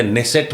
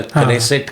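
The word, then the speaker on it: Knesset: एवढासा देश निर्माण झाला तेव्हा तर लोकसंख्या 55 लाख होती, पण लोकशाही आहे त्यांची, पण संसदीय नेसेट म्हणतात त्याला, उच्चार कनेसेट करतात, स्पेलिंग केनी चालू होतं.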